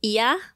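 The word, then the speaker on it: いや: Tom's accent is funny, but it's, the word is iya. It's, in English, you would spell it I-Y-A.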